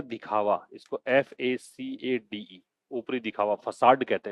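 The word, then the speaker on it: façade: इसको FACADE, ऊपरी दिखावा, फसाड कहते हैं इसको, है ना। छद्मावरण जिसको बोलते हैं, झूठा जो दिखावा होता है उसको हम बोलते हैं, इसको फैकेड नहीं बोलना, फसाड, क्या बोलना है, फसाड, प्रोनाउंसिएशन पे भी ध्यान देना भाई, ठीक है।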